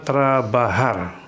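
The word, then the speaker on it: trabajar: ingin kemudian ada kata terbahar yang artinya bekerja perhatikan ini diucapkannya bukan antara belajar karena huruf j dalam bahasa Spanyol itu diucapkan seperti hak karena ini kemudian ada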